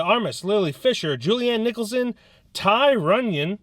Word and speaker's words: Tygh: Lily Fisher, Julianne Nicholson, Ty Runyon, that's a name, just the way it's spelled is like Tygh, Michael Dreyer, Sarah Paxton, Brian Vincent, a whole bunch of people who are not that important.